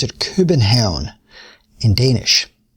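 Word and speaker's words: København: Happiness Research Institute in Copenhagen in Copenhagen they pronounce it urban town in Danish urban town and he's spent years studying the magic of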